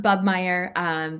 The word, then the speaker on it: Bobenmoyer: But yeah, so it's pronounced Bubmeyer, but so good to be on here.